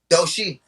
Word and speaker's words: Doshi: Um, is it Ducci or Dochi? How you say it? Doshi.